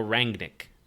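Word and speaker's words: Rangnick: frenia kept the uh a rang nick is the correct pronunciation there at the end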